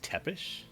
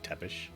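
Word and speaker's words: Țepeș: Kyrix Tepish? I believe how that is pronounced too, like Dracula's name of Vlad Dracula Tepish. I believe the S at the end is, it's not Tepis or something, it's Tepish.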